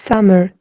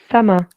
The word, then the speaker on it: summer: If you are following the British English, remember that in British English, the R sound is not pronounced in most of the cases if it is the second, third, fourth, or the last letter of the word. So we'll not say summer like the Americans say it.